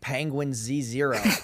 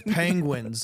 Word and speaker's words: Penguinz0: Dude, he hated the fact that I couldn't pronounce it. I'm like, "Dude, it sounds like Penguin Z0." He's like, "It's Penguins."